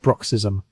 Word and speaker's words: bruxism: Vets call it bruxism, pronounced bruxism.